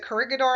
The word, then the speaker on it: Corregidor: Is it Corregidor Island? I want to make sure I get the Corregidor.